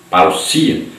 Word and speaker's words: parousia: Tópico 1, a palavra parousia, que se pronuncia parousia, significa vinda, chegada, presença, volta, visita real, advento, chegada de um rei.